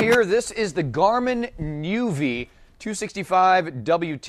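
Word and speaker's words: nüvi: this is the Garmin Nuvi 265 WT you have to pronounce it that way because it has an umlout on it is that even a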